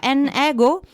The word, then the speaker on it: N-Ego: N ego si pronuncia. Sì, come vuoi. Nego nego. Nego. Esatto. Sì.